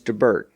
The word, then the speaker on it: DeBert: At that meeting, they wrote this letter to their agent in London, Dennys DeBert. And it's spelled like Dennys, the restaurant Dennys, without the apostrophe.